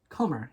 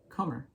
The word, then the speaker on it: Comber: I'm pretty sure, I thought the B was silent, so this is Aphrodite, again, reiterating, this is Aphrodite's Comber.